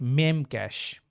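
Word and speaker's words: memcache: crash course let me m cash M cash because it refers to like memory okay it operates similarly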